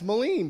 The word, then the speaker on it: Melin: be back so so keith olbermann mispronounced my name twice he called me mean melon mean melon melon and it's Moline dude it's mean Moline it rhymes um so I